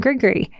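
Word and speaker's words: gris-gris: on my heart and send you some good grigory it's spelled g r i s g r i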